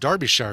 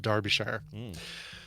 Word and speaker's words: Derbyshire: And I think there's no way you'd know this, Scott, but I believe it's pronounced Derbyshire, even though it's spelled Derby. It's pronounced Darby, but Mark can correct me if I'm wrong on that.